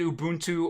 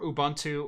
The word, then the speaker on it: Ubuntu: it was named yeah you can say it Ubuntu or Ubuntu or Ubuntu there there